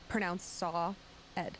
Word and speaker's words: Saad: Saad, S-A-A-D, pronounced Saw Ed. Saad. Oh, Like okay, you yeah. sawed a piece of wood.